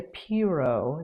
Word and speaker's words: Piro: My most recently finished project was this MellowMood top by Julia Piro. that is spelled P I R O.